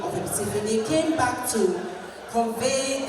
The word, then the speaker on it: Abetifi: We say Epitifi to say Abe, but it's really rocks. So it's the height of the rocks where the travelers settled and made that the new name of Epitifi.